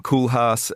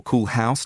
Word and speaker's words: Rem Koolhaas: in 2003, Alvaro Caesar, Rem Koolhaas, or Koolhaus, depending on how you want to pronounce it, Frank Gehry.